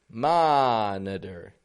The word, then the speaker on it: monitor: monitor. Now in here we're seeing 3 levels of syllable stress.